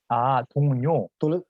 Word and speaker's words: 동료: 동료.